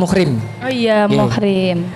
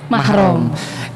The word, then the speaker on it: mahram: apa ya miskom dalam penyebutan istilah yang yang biasanya dipakai adalah bukan muhrim tapi kalau sesuai syariat itu penyebutannya adalah bukan mahram mungkin karena huruf tanpa harakat kita jadi mahram dibacanya muhrim kan dan di tradisi halal